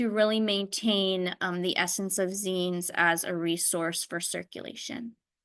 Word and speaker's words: zine: Okay, so I will just briefly go through it because we've talked about it, but a zine, pronounced zine, they're little self-publicated, shortly, closely circulated booklets that are usually for nonprofit.